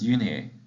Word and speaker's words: Unhei: new here what's your name a girl asked unai said the girl asked scrunching up her face the kicks chanted no no name corrected it's spelled u-n-h-e-i it's pronounced uni oh it's the boys say like you hey